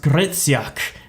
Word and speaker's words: Hryciuk: like oh no your your last name it's pronounced gritsyak and i was like